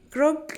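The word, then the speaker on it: Grogan: Grogon, am I even saying it correctly?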